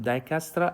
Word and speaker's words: Dijkstra: It's called Dijkstra algorithm. J is silent, and this is the name of the person who found this algorithm.